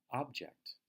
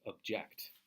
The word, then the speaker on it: object: tissues a button object there's a very similar-looking word that is pronounced very differently which is object if you strongly disagree with someone or something we say you object to it so I can't